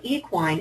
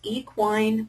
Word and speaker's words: equine: The word equine is actually pronounced equine or equine. You've probably heard it both ways, and the difference in pronunciation is actually preference and nothing more.